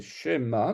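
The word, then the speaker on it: שְׁמַע: Le sheva au début d'un mot, Shema Israël Adonai Eloheinu Adonai Echad, c'est Shema, donc le premier Sheva, il est vocal, on l'entend.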